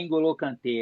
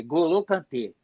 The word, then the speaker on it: N'Golo Kanté: Quando tem o N ou M antes, tipo, N'Golo Kanté, não é N'Golo Kanté, é Golo Kanté.